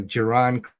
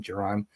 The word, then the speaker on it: Geron: signed a tackle uh giron Christian I hope I'm pronouncing his name right it's g r o n is his first name Geron Christian and wide receiver